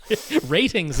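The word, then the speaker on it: Rtings: Ratings is how they want us to say it.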